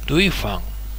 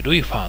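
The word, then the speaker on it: 瑞芳: 、これ、瑞宝って書いて、ルイファン。瑞宝と書いてルイファンっていう駅まで行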